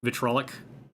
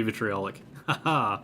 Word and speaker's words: vitriolic: spray vitrolic metrolic spray is it vitriolic or vitrolic huh they're spelled differently on both of those and i don't actually know how to pronounce the word i know it's vitriol oh he has to be vitriolic root words they matter the battle mage has